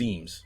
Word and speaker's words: Eames: It was Eames.